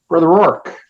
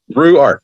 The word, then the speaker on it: Ruark: Ruark, like kangaroos on the ark.